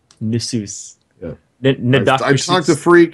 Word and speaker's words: Nasus: Nasus and Fiddle. That's how you say it. Nasus? It's Nidalee and Nasus. Nasus.